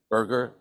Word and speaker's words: Berger: world Berger and that's spelled b-e-r-g-e-r okay Burger not like a hamburger but it happens that